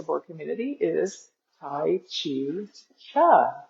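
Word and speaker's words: Chih: community, is Tai Chi Cha. That third little word is pronounced cha, like chuck wagon.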